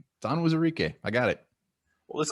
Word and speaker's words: Onwuzurike: Why did you pronounce the O wrong the first time? Onwuzurike. It's Onwuzurike.